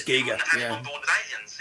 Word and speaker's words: Giger: I'm mispronouncing it myself now. I'm pretty sure it's Giger.